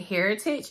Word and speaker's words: Hairitage: want to say that you pronounce it Heritage it looks like hair and then tick i t a g e so Heritage um but everything that